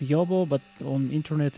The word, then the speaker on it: Jobo: It's actually pronounced Jobo, but on internet it's Jobo, just in case.